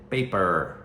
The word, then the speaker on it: paper: então de novo aí o r a importância de treinar e a pronúncia e dizer paper tá e cola a língua